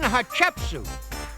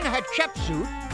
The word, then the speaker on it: Hatshepsut: It was Queen Hatshepsut. And if you say her name quick enough, it kind of sounds like hot chicken soup.